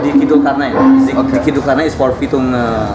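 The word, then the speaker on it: Dicky Zulkarnaen: Dikit Zulkarnain.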